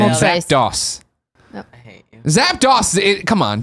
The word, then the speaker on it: Zapdos: Zapdos, come on, DOS at the end.